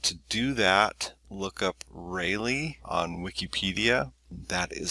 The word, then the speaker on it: Rayleigh: If you want to do that, look up Rayleigh on Wikipedia. That is spelled R-A-Y-L-E-I-G-H, the Rayleigh effect.